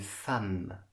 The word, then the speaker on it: femme: un mari une femme attention la prononciation une femme un fils un fils